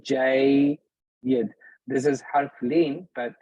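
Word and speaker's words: جيّد: Jayyid. This is harf leen, but it's jayyid. So the way you would pronounce the way I want you to think about this is this way.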